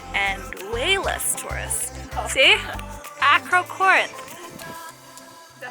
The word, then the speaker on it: Acrocorinth: Acrocorinth. Is that how you pronounce it? Acrocorinth.